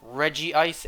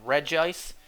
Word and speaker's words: Regice: It's like how the anime pronounced it both Regice and Regice.